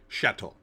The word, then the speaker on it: shtetl: The first thing you should have done is added the E, shtetl, so people would pronounce it correctly and they wouldn't make fun of it.